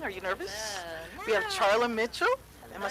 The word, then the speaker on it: Charla Mitchell: studio this morning are you nervous you have Charlie Mitchell am I saying it right you are yeah